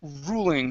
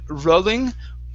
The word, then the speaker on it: ruling: um let's go to the word ruling here okay instead of rolling ruling ruling ruling okay one more time ruling okay smooth l ruling ruling ruling okay with